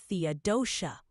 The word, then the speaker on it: Theodosia: Missouri, Theodosia is pronounced Theodosia. Keep it smooth and you'll fit right in. Back to you, Ryan. All right, thank you, Yabot. Theodosia.